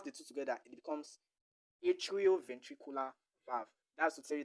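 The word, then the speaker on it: atrioventricular: It's a combination of two words. The atrium the atrium and the ventricle.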